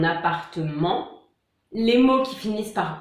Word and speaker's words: appartement: Ensuite, on a les mots qui finissent par MENT, ment, donc là on ne prononce pas le T, comme un document, un appartement.